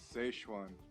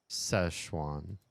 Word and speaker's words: Szechuan: I just want the American pronunciation, not the how to pronounce Szechuan in English. Oh, these people will do it. Szechuan.